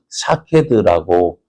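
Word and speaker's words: שָׁקֵד: 살구나무를 히브리어로 샤케드라고 읽습니다.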